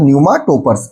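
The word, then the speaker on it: pneumatophores: न्यूमा टोपर्स। ऐसी plant species को क्या बोलते हैं हम? न्यूमा टोपर्स। ठीक है? पीए इसमें क्या है? साइलेंट है और वहीं सुंदरबन डेल्टा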